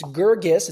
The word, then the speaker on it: Guirgis: all we I clarified it's gergus it's a hard G the second G that's for all of